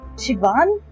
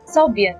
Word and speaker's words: Siobhan: moment to spare Siobhan this is how you say her name Shian I was reading it soan all this time I